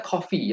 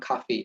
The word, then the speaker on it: coffee: Smith doesn't bilangnya coffee ya, bukan cafe, tapi coffee.